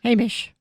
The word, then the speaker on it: Hamish: Hamish.